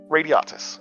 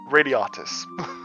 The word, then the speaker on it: Radiatus: Radiatus. I have it. I just don't know how to say it. Yeah. Think radiates, but then Roman official. Right. Radiatus.